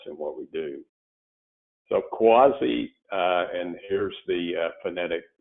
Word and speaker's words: CUAHSI: ideas motivate us and what we do so quasi and here's the phonetic pronunciation which some people need but we're a